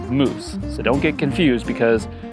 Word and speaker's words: mousse: future moss growth now moss in French is actually pronounced moose so don't get confused